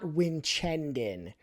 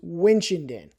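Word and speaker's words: Winchendon: It's not Winenden. It's Winchenden. And uh the only reason I ever was in Winenden uh was driving through it to get to Keen, New Hampshire.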